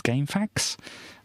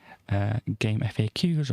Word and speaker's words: GameFAQs: how people pronounce this i usually have pronounced it in my head as game facts i think people other people do pronounce it that way you can say game faqs or game facts or whatever but um this was